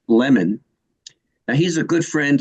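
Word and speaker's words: Lamon: man his name's Ward it's actually prod pronounced lemon now he's a good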